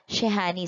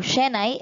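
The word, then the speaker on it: shehnai: into the instrument next we have the shahani so it is an instrument borrowed from the muslims and it is a prominent instrument in north india so sorry wrong pronunciation so shenai is a musical instrument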